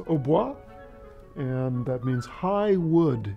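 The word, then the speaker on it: hautbois: instrument is an OBO in French it's Oba and that means high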